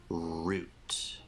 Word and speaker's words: route: word in English well if you're talking about British English you would definitely say root Root Root so you use the long oo sound in words like Sho okay root or